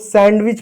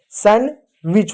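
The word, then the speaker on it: sandwich: अगला यहाँ शब्द देखो, ये शब्द है, इसको लोग सैंडविच पढ़ते हैं, सैंडविच नहीं होता है, सैंडविच होता है, सैंडविच होता है।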